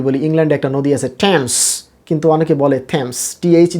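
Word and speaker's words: Thames: ইংল্যান্ডে একটা নদী আছে টেমস, কিন্তু অনেকে বলে থেমস, টিএইচ দিয়ে লেখা হয় তাই বলে থেমস, অ্যাকচুয়ালি টিএইচের উচ্চারণ এখানে টা হবে কি টেমস।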